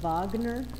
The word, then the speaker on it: Wagner: you pronoun it looks like wagner but you pronounce it wagner because he's german wagner and he wrote operas